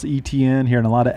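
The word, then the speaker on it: Etienne: hearing a lot of etns out there vtn's pretty easy for me which is bad you go to the clemson media guide i loved it pronunciation guide travis etn in parentheses it was capital e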